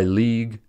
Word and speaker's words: league: Words like colleague and prologue are two-syllable words as the ending UE is silent. This is why league and tongue are one-syllable words.